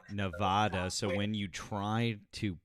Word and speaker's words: Nevada: Just so you know, it's pronounced Nevada. Nevada.